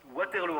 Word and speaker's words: Waterloo: dit waterlo ou waterlo waterlo en Belgique on prononce waterlo waterlo très bien non ça